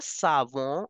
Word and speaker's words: savon: Soap as le savon, or sound will come because O-N are there in the end.